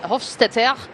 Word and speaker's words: Hofstetter: So you can imagine that Hofstetter, as you should pronounce it apparently, is a man who